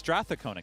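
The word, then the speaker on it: Strathcona: saying it wrong all this weekend straon it's stona County that's what he said it's stona County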